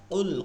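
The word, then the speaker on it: قل: এরপরে হচ্ছে কুল হুয়াল্লাহু আহাদ, কুল কফের উচ্চারণটা ভারী হয়, অর্থ হচ্ছে হে নবী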